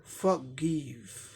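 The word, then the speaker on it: forgive: फॉरगिव। Are silent हो गया, आर नहीं दिखाया गया।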